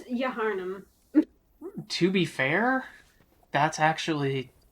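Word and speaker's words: Yharnam: It's Yaharnam.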